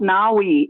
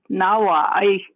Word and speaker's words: Nawai: It's not Naui. It's Nawai, which is the middle or the center. Na. Nawai. Me, yeah. Yep. That's the correct way to say that word.